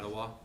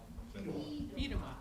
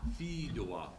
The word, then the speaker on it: Fedewa: into one, that one individual, I can't even pronounce his last name. Federal or whatever. F-E-D-W-A. Yeah, Fedewa. Biedema. Fedewa.